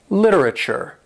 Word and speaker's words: literature: And when you see these four letters at the end of a word, it's pronounced chur. We say T-U-R-E as chur. Literature, acupuncture, rapture, adventure.